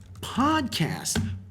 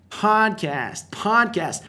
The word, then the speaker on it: podcast: I literally love your podcast. Podcast. Outra dica de pronúncia. Muitas vezes o em inglês soa como a.